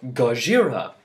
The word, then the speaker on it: Gojira: yeah pretty awesome right Godzilla or Gojira is apparently the Japanese pronounce it or 2014 Godzilla or